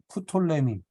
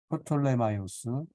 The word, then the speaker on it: 프톨레미: 이집트 지역을 주로 다스렸던 프톨레미 뭐 영어로 하면 프톨레마이오스라고도 하고 하는데 프톨레미 뭐 발음하기도 셀루호코스도 셀레우코스 이렇게 발음하기도 하고 그냥 셀루커스 이렇게 발음합니다 안티고노스도 마찬가지입니다 그래서 안티고노스 장군이 다스리는 이쪽 그 다음에 프톨레마이오스 프톨레미 셀레우코스 다른 데는